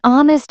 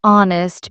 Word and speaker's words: honest: We say a European city because European starts with a Y sound, but an honest answer because honest begins with a silent H and a vowel sound.